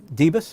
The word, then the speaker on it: Debes: were talking today with uh dibas am i pronouncing your name correctly that's correct uh from michelle palmer